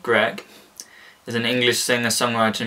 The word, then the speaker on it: Grech: last fan which says martin gretch pronounced greg is an english singer